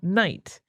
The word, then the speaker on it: night: But the early modern period is also when we stopped pronouncing the K, the G, and the H in the word night. So That's why we don't say that would have been knicht.